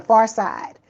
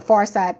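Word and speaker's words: Pharcyde: The Far Side. It's a rap group. It's a old rap group from the 90s called The Far Side. P H A R C Y D E. That's how it's spelled.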